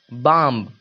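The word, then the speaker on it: bomb: है तो ए गया बम क्या बम बम तो बी का उच्चारण नहीं एम का उच्चारण हुआ मां बी का उच्चारण नहीं हुआ बम लिखा हुआ है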